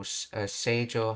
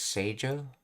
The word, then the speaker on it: 成城: So this kanji right here is supposed to be pronounced as Seijo. So 今日はお兄ちゃんの学校成城高校の制服を紹介していくで。